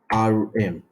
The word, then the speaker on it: rem: we have REM if you understand which is pronounced uh r m you understand so what is M what is